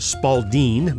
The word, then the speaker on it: Spalding: a ball preferably either a pink Spalding pronounced Spalding by those in the know or a blue handball